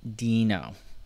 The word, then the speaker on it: Deno: was you know this this guy right here supposed to be a dinosaur so Dino Dino Dino dinosaur so Dino so I'm calling it Dino now apologize from last